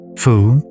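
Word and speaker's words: 蝠: The Chinese word for bat, fu, is pronounced the same as the word for prosperity and good luck.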